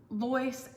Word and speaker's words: Lois: Sharon, Lois, and Hazel, and I hope I said it right, Lois, not Louise. I think Lois is Lois, but I may have, if I butchered that, I'm sorry.